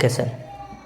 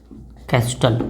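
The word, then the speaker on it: Castle: given by Morgan and केसल given by Morgan and कस्टल कैसल बोलते हैं T silent करके okay और Morgan ने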